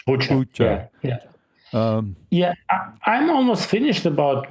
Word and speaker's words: Bucha: Is that how it's pronounced? Bucha.